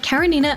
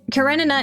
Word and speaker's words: Karenina: Karenina is, to my understanding, a Slavic name. While it was pronounced like that early in PGR's English dub, the official dub eventually switched to Karenina.